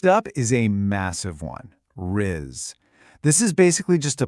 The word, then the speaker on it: rizz: You really want to emphasize that soft buzzing z sound at the very end.